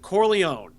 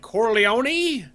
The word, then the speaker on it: Corleone: is watch the godfather everyone who like is in the family pronounces it Corleó and it's the cops and the outofouch senators that are like Corleone like it's and it's